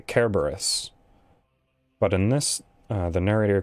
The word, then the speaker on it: Kerberos: Because in Greek, there is no soft C sound. It's always the hard one. So, Cerberus' name is actually Kerberos.